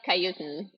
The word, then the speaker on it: Khayutin: It's Khayutin. Khayutin.